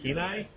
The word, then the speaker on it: Kenai: How do you say that? Kenai. It's nice, shiny.